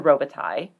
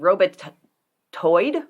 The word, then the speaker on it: Robitaille: a youtube video and there's the name robiti in here which that one i know how to pronounce because i had professor robitaille he was my french lit professor so he came by it honestly and i'm pretty sure he knew how to pronounce his own last name and i think they said robot toyed or something like that and i was like